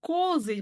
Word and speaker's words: козы: Ал егер бірнеше коза болатын болса, онда козы болады. Козы ударение бірінші буынға оға түсіп тұр.